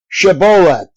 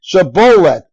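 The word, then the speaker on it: Shibboleth: no I am not they would tell him to say shabet if he was from Ephraim he would say saet because people from Ephraim cannot pronounce the word correctly then they would take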